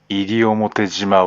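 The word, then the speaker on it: 西表島: 沖縄地方ではこのことから東を上がりと読み、西を入りと読む。だから西表島は入表島である。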